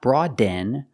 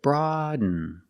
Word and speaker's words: broaden: with n broaden pronunciation not broaden but broaden broaden you do a stop D you put the tongue up Broad and you fall to an N broaden broaden is a